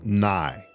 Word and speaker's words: nigh: g h okay yeah spelled like night but without the T at the end I think it means